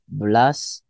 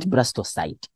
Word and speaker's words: blastocyst: Yeah, blastocyst or blastocyst. So that's how we pronounce, not blastocyte.